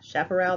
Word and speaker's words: chaparral: that's how you say it's Shaq it's not chap the CH sounds like an SH chaparral alright so as even